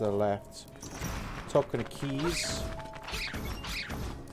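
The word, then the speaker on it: Keese: left top kind of keys these are called keys if you pronounce it keys but it's spelled k-e-e-s-e so by the way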